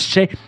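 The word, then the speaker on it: še: Le mot orge en sumérien se prononce chai, donc un sumérien voit cela et il dit « Ah, chai !» C'est pas possible autrement, très clairement.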